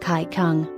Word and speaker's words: Qigong: An oriental method called Qigong, pronounced Kai Kung, has been used to increase circulation to the scalp and face also.